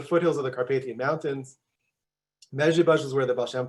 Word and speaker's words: Mezritch: So everyone say Mezritch, Mezritch. It's not even the hardest town to pronounce.